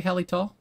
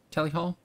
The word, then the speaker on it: Tally Hall: Did I say Hallytall? Tally Hall?